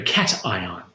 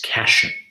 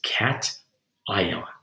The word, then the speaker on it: cation: with her students and pronounce this as cassian and that that is not right it is cat ion okay that's a positive